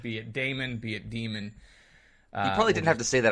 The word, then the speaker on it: Daemon: Last time I said Daemon because a computer daemon is spelled Daemon, correct? It is. Yeah. So, but they repeatedly say demon in the show, the episodes. And if you look it up, I think the actual pronunciation is demon, so I will just say demon.